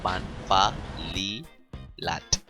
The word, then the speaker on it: Phan Fa Lilat: to find Polly fat there will always be confusion of how to pronounce pan valley latin i will always pronounce it SS fun family funny the actual name is fun fun Lee lat you'll be finding the